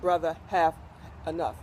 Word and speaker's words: Brothahaneef: So it's pronounced Brother Have Enough, like brother had enough.